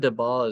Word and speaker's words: Debord: I actually think that Debord, watch out, Anglos, I'm going to pronounce it the French way. I think that Debord is like, a little